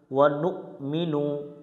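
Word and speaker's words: ونؤمن: এখানে শক্ত হবে, ওয়াওটা ধরা যাবে না, হামজাটা ধরতে হবে। নু, মিমজের মি, নুন পেশ নু, মিনু, ওয়া নু মিনু।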